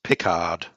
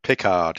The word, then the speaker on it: Pickard: If you're from England, it's pronounced Pickard. Pickard. Pickard, yes.